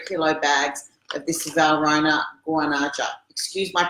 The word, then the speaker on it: Guanaja: getting these 3 kilo bags of this Valrhona Guanaja. Excuse my pronunciation, but it's Guanaja, 70%.